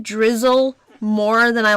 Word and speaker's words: Drizzile: Is it just Drizzle? Oh, weird. It's not spelled like that.